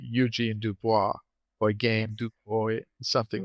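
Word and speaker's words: Eugène Dubois: but uh uh in in English, I say Eugene Dubois or I gain Dubois, something like that. Eugene Dubois, yeah. Eugene Dubois.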